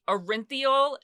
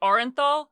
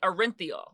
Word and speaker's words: Orenthal: OJ Simpson whose original name is arinthal James Simpson yes this is how he pronounces it I know a lot of people say orthol but he pronounces it arinthal or he pronounced it he died recently I